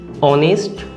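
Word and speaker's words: honest: এরপরে আরেকটা যদি দেখি, অনেস্ট ম্যান, দেখুন এটারও উচ্চারণ অ দিয়ে, এর উচ্চারণ মানে ওয়ার্ডটা যদি এইচ দিয়ে শুরু হয় হলেও এর উচ্চারণ কিন্তু অ দিয়ে, তাই এটার আগেও অ্যান বসবে।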